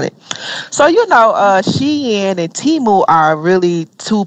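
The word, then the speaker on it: Shein: name wrong and and some people say it's not she and it's Sheen so it's like I be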